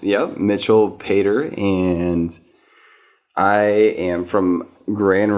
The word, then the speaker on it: Pater: I don't think I've ever heard the correct pronunciation of your last name is it Pater Vader yeah okay so Mitch why don't you